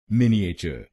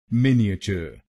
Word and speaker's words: miniature: इसकी सही प्रोनाउंसिएशन है मिनिएचर। मिनिएचर। इस शब्द में 4 शब्दांश हैं। पहला शब्दांश है MIN, दूसरा शब्दांश है I, तीसरा शब्दांश है A और आखिरी शब्दांश है TURE।